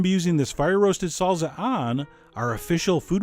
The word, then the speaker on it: salsa: salza a try and yes that is how you pronounce it salza I mean come on who are you going to believe me or your Spanish teacher but anyway no matter